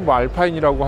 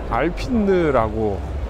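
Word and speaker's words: Alpine: 거지 그냥 그 뒤에는 알핀들 알파인 미국식 발음으로 말파인이라고 하기도 하고요 여기서는 알핀느라고 부르기도 하는데요 브랜드가 전시를 하고 있어요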